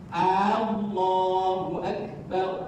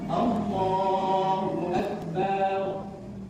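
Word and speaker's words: الله أكبر: wajib belajar kesalahan kedua ikut paling banyak Allahu Akbar bar seolah-olah rab terpanjang terpanjangkan yang betul tak panjang gak boleh panjang langsung artinya menjadi apa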